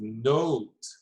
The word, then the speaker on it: note: the letter e okay so that makes it so that we're gonna have a long o sound oh okay so the result is note note not it's not going to be not it's not okay note and then here we're